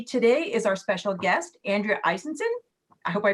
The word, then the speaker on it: Andrea Eisenson: um like uh grace said my name is andrea eisenson pronounced perfectly thank you grace thank you um i